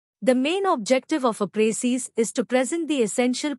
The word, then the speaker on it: précis: The word précis, pronounced précis, is a noun derived from the French word préciser, which means to specify or to make clear.